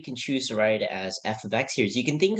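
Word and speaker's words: f(x): represents first of all it's pronounced f of x not F times x because some people might look like C at the parentheses and think it's times but it's actually pronounced f of x and it basically means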